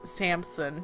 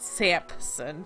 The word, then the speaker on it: Samson: Anyways, I know it's pronounced Samson, not Sampson, but whatever.